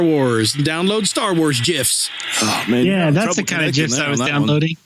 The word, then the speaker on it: GIF: Graphics, hard G. Yeah, it's GIF.